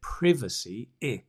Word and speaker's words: privacy: private is the adjective notice the change in the the the pronunciation is well this is british english right in british english we say privacy privacy but private i i private for example you need